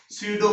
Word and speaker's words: pseudo: स्यूडो force PSEUDO, स्यूडो, है ना। ये P जो है वो साइलेंट है, स्यूडो फोर्स। स्यूडो का मतलब होता है फॉल्स। फॉल्स मतलब जो एक्चुअल में नहीं होता है उसी को हम बोलते हैं स्यूडो, ठीक है। P साइलेंट है यहाँ पे, स्यूडो फोर्स।